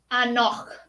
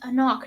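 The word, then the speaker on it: anCnoc: Hard C. Anoch. Anoch. That's a lot. Whoopsie. I poured a little too much of that. It is a knock, not a no.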